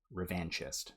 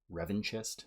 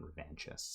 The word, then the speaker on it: revanchist: time maybe it was revanchist because Revan, but John Jackson Miller clears up it doesn't have to sound the same, even though Revan is pronounced a different way than revanchist.